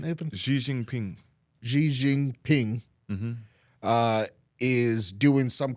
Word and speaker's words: Xi Jinping: How do you pronounce his name, Nathan? Xi Jinping.